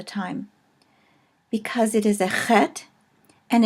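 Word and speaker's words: ח: because it is a head and it is a called a guttural and it is sort of pronounced in the back of the throat as in the name Locke or Bach those who might speak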